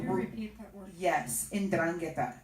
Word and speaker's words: 'Ndrangheta: Yes, 'Ndrangheta. It's spelled apostrophe Ndrangheta.